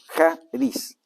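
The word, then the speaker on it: χάρις: más común para gracia en el Nuevo Testamento jaris se se se escribe Sharis pero se pronuncia como J no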